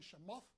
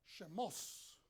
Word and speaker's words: Shemot: Entonces, en Shemot, a veces algunas personas lo pronuncian Shemoth o Shemos.